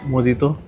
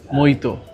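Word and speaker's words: mojito: कोई मोहितो बोलता है, कोई मोजितो बोलता है, इसका ओरिजिनल नाम क्या है? साउथ दिल्ली वाली लड़की बताइए। इसका ओरिजिनल नाम है मोहितो।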